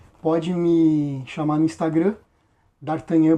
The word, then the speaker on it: Dartagnan: Pode me chamar no Instagram, Dartanhan. se escreve Dartagnan e eu mesmo tô fazendo a venda e o envio.